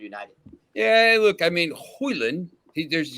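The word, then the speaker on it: Højlund: yeah look I mean hoyland there's you don't pronounce the d this is he'll be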